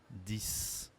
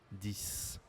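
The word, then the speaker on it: dix: On ne prononce pas le X à la fin, mais on prononce comme un S. 10. 10.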